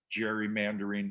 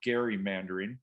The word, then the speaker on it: gerrymandering: the gamesmanship and uh depending upon how you choose to pronounce it gerrymandering or gary mandarin my sense i will